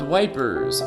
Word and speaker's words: Ypres: Ypres, town in ruins. See, now I'm not afraid to say it. Dubbed Wipers by British troops due to its difficult pronunciation.